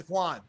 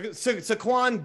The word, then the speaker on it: Saquon: all right i i i was told his name is now pronounced saquon so saquon bierkley can you say that though for five points i could say that saquon bierkley oh my god